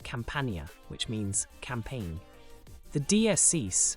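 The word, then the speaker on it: campaña: to the letter N this word would be pronounced campia which means campaign the DS is a mark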